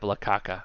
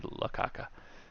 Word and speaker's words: La Caca: I did pick up La Caca, and I said it wrong to the fireworks stand guy. People called me out on it. I was supposed to say La Caca.